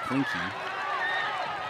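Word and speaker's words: Klenke: It's spelled K-L-E-N-K-E, but pronounced Klinke.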